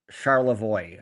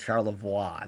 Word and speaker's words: Charlevoix: Uh No, that's that's not how you say it. Charlevoix. Oh, I said Charlevoix. They should say Charlevoix. It's a French word.